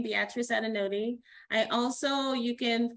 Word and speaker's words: Beatrice: for taking the time i just realized that i mispronounced your name i said beatrice but it's beatrice a beautiful name i